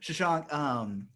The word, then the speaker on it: Shashank: Um, I keep Shashank. There I you go. keep saying it wrong. Shashank.